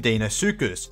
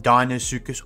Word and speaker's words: Deinosuchus: lizard and the fome Dinos sucus also known as the terrible crocodile now technically you can pronounce it dinos sucus or dinos sucus personally I've always used dinos